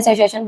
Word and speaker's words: सशासन: सशासन बोलते हैं इसको हम।